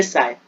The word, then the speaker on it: psi: CHI में H silent है, उसे काय बोलोगे और PSI में P साइलेंट है, साय.